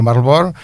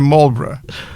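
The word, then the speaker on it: Marlborough: Também é difícil de pronunciar e até até há quem diga Marlebor inspirando-se na contemporaneidade. Na contemporaneidade. Parece que para os ingleses é Molbra.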